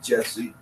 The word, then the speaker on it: Jussie: Jussie is Jussie. I hope I'm pronouncing it correctly. Jussie, I've heard some say Jesse.